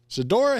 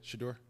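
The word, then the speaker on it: Shedeur: Shidora hater. Is that how you say his name? Yeah, Shador. I gave up. Shut the door. No, Shador.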